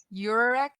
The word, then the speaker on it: Yurek: It's Yurek. I guess it sounds like you're a wreck, which isn't nice, but you a wreck, lady.